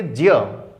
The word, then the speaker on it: ज्ञ: लेकिन इसको केवल इस आधार पर समझना है कि हम ज्ञ जो बोलते हैं ये वास्तव में गलत है। इसको हमको बोलना चाहिए ज्य।